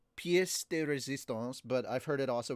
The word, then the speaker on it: pièce de résistance: I don't know if it's pièce de résistance, but I've heard it also pronounced piece, but I've heard it pronounced pièce de Resistance.